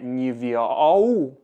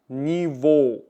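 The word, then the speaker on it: Niveau: кажу завжди шанс а це не нівіау а даніво рівень просто кінець як о вимовляємо ніво з ось цим словом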